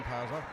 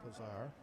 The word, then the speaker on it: Pazar: Pass low to Hall and foul and gets on Pazza. Pazza, I think it's Pazar. Pronunciation is Pazar.